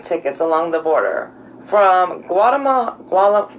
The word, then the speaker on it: Guatemala: We found airline tickets along the border from Guatemala. How do you say it? Guatemala. Not Guatemala. Yeah. Guatemala.